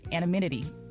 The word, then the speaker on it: anonymity: How do you say that word? Anonymity. Anonymity. There you go.